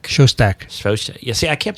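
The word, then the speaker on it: Szostak: Jack Svotak. Shostak. Svotak. Yeah, see, I can't Jack pronounce anything.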